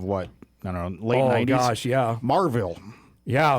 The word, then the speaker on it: Maryville: Marville. Yeah. I think the locals say Marville.